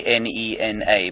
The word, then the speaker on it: Nhenha: e NH h a it's pronounced basically NE n a but the H just slightly aspirates it so it's it's not